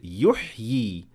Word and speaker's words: يحيي: So when I stopped at the word يحيي, I pronounced both ya, the one that is written and the symbol as well, even if I stopped at it. And also when I kept on reading, I pronounced the symbol of the second ya.